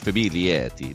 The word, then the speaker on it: Famiglietti: name correctly well correctly it's probably like famili but um you know I grew up in I'm an American I'd say we just say F uh my dad uh